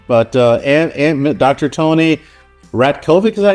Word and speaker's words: Ratkovic: Tony Rat Kovic, is that how you say your name?